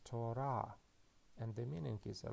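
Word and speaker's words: תורה: So we can read this word as Torah, and the meaning is a law or instruction.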